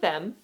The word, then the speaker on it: Them: So they started with Them, which I swear... Excuse me. Them is how you pronounce it.